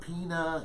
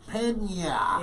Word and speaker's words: Peña: I remember when he won, and I was pretty excited because I said, it's not Pina, it's not Pena, it's Peña. Yeah. Learn how to say it.